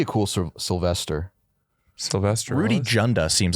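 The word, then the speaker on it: Dzunda: But it was still Junda, but it was DZ U N Da, but still pronounced Junda, which is that would have been a nightmare.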